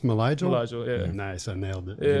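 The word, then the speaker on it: Mylyjael: How's his first name pronounced? Malajal? Malajal, yeah.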